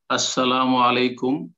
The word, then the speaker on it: আসসালামু আলাইকুম: একটু আরো একটা কোশ্চেন ছিল সালাম দেওয়া শুদ্ধ উচ্চারণ আসসালাম আলাইকুম এটা হচ্ছে সালাম 10 আসসালামু আলাইকুম ওয়ারাহমাতুল্লাহ 20